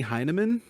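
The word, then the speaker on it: Hyneman: time you've said it how do you say it Jamie heinemann heinemann yeah there's an in there heinemann h-y-n-e-hyman I mean you could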